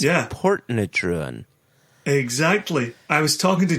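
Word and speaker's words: Portintruan: It's spelled Portintruin, and it's pronounced Portnatruin. Oh yeah, Portentruan, but it's pronounced Portnatruan.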